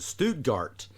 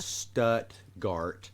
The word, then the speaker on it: Stuttgart: I had an old graduate school professor pronounce it Stuttgart. No. That's in Germany. We pronounce it Stuttgart, and that's the duck hunting capital of the world.